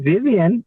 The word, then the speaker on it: Vivien: this Myrtle trees and your name Vivien really nice name is that Vivian is that how you pronounce it yes is the right way and that you know